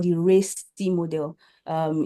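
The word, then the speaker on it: RACI: the things we used was something called the race model um it's spelled R A C I um R stands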